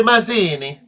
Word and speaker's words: Mazzini: free independent Republican Nation you'd say it like a jepe Masini neither of them could